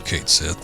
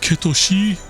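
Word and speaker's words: Cait Sith: some other time I was uh referring to Kate Sith said his name and somebody was like um actually it's pronounced kosi I don't know where you get that I'm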